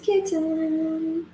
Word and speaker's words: kitten: I think you pronounce the T's, but I say kitten. Kitten. Yeah. Kitten. Drop the T's.